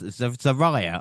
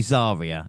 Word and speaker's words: Zarya: Was I saying last Zariah I think it was? So it is definitely Zarya is her name on Definitely.